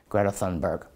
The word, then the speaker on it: Greta Thunberg: say they're big fans of a person called Greta Thunberg.